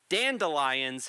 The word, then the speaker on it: dandelions: pronounce it right dandelions has four syllables girl you are not standing in line at a Dandy Mini Mart then again you